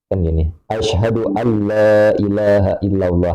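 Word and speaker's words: أشهد ألا إله إلا الله: Ashadu alla ilahaillallah. Memang seharusnya seperti itu . Dia tidak membacanya seperti itu.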